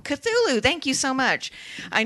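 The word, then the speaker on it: Cthulhu: do you do you guys know how to pronounce c h u t u l u chulu cthulu cthulu thank you so much I knew that I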